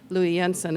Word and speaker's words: Louis Jensen: So, the square stories um Lewis Jensen and in Danish they say Louis Yensen as Kate very perfectly pronounced very very well done.